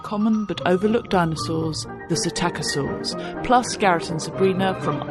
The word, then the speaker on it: Psittacosaurus: No, it's Psittacosaurus. Psittacosaurus. Psittacosaurus. Nobody's going to click on this. P-S-I-T-T-A-C-O, Psittaco, so with a silent Greek P at the front.